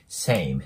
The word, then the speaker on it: same: けどこれもね same ムって伸ばすんじゃなくて say ていうね二重分になるので same same ていう感じで発音してもらえたら